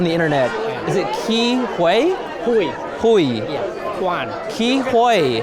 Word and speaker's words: Huy: Sorry, and just so I get this clear, because I've seen people pronounce your name differently on the internet. Is it Ke Huy?